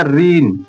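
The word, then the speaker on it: reign: जी है ना ऋन तो इसे क्या पढ़ा जाएगा रीन रीन जी साइलेंट हो गया रीन मतलब शासन आशा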